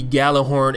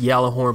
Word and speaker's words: Gjallarhorn: Uh, you will actually be given the Galah Horn. It's it's probably pronounced Yalah Horn, but I always called it the Galah Horn, so I'm going to continue to call it the Galah Horn.